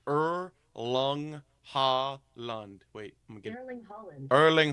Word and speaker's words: Erling Haaland: Erling Haaland. The G is silent? Yes. Erling Haaland.